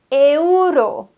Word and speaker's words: euro: ihn am Anfang ausgesprochen der Euro heißt im spanischen richtig Euro Euro E und U werden getrennt voneinander ausgesprochen es gibt kein verschmelzen im spanischen zu wir sagen Euro die Spanier sagen Euro Euro perfekto wenn du